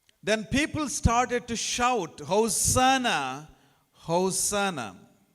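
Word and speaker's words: הושיעה נא: Then people started to shout, Hosanna, Hosanna. In the Hebrew language it is spelled like this, Hoshiana, Hoshiana.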